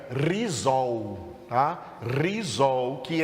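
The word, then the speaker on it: ῥιζόω: Para arraigados, Paulo usou o verbo grego que se pronuncia rizol, tá?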